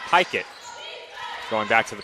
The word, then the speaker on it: Pickett: Feed inside, goes to Pickett, and she banks it in. So it's actually pronounced Pikett.